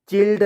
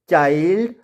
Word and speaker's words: child: और यहाँ पे आई के बाद क्या आ रहा है LD और यहाँ पे LD, तो हमने इसको चिल्ड ना पढ़कर क्या पढ़ेंगे चाइल्ड, और इसको विल्ड ना पढ़कर पढ़ेंगे वाइल्ड, और यहाँ पे माइल्ड के रूप में पढ़ेंगे।